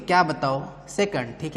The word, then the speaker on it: सेकंड: ठीक है, हिंदी में इसको सेकंड बोलते हैं। ठीक है, सही उच्चारण यही है।